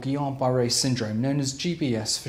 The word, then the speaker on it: Guillain-Barré: I'm saying it with silent letter L's and so shouldn't be mispronounced as Gillian or gilan the condition affects around